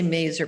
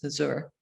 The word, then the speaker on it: Mazur: well, it depends, what side of the river you're on, because I say Mazur, but my husband says Mazur.